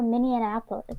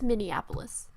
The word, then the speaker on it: Minneapolis: that in mini yeah I can never pronounce is it yummy apples their mini Annapolis I think it's Minneapolis okay well in Minneapolis they